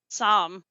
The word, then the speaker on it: Sahm: family institute claudia just how do you say your last name i want to make sure i'm getting it correct sam thank you oh okay